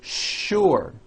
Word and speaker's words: sure: is that there are some words in English that are written with the letter S but are pronounced with the SH sound words like sugar and sure and to make things